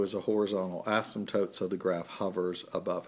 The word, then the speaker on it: asymptote: 0 is a horizontal asymptote remember we've talked about that all the way from 1030-3 on up asym pto te the P is silent and even though I